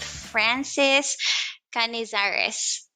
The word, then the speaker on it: Canizares: podcast gwen here and today i am with francis canezares did i pronounce that right france yes that's correct wonderful